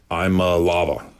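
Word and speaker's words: Iamaleava: And now you had Nico Lava. That's how you pronounce it.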